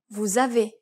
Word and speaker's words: vous avez: vous avez. Notice how the S is no longer silent, but is instead pronounced as the onset of the next syllable in the connecting word.